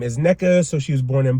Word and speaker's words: Nneka: I'm already mispronouncing her name. So, but it's Nneka.